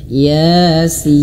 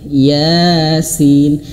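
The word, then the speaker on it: يس: Oke, perhatikan Yasin di sini ya dua harakat ya. Yasin. Dua harakat itu adalah satu ayunan ya. Satu ayunan gini. Nah, satu ayunan ya. Ya. Gitu ya. Yasin. Kemudian sin di sini bisa lima atau enam harakat lebih tepatnya enam harakat.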